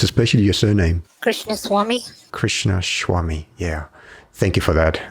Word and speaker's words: Krishnaswamy: say that correctly Kavita yes how would you pronounce especially your surname Krishnaswamy Krishnaswamy yeah thank you for that I did practice